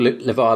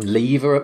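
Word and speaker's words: LeVar: kept calling he's called levi burton isn't he and he kept calling him lever lever man lever or something like that like something weird kept getting his name wrong all throughout the thing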